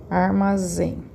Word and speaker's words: armazém: Armazém. Deixa eu colocar acento. Armazém. Qual que é a sílaba tônica? A última sílaba.